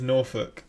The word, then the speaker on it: Norfolk: I find it so funny how he says Norfolk, because obviously I'm from I forgot what it's called, the county in England called Norfolk, but he's like Norfolk. It's just so funny how the difference in pronunciation, etc.